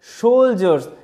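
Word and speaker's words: soldier: আদেশ দিয়েছিল হিজ তার সোলজার এখানে ডি এর উচ্চারণটা জয় এর মত হচ্ছে মাথায় রাখতে হবে ঠিক আছে সোলজারস মানে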